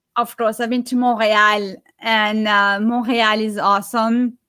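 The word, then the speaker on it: Montréal: way you don't say they don't say the t you don't say montreal you say monreal yeah the story is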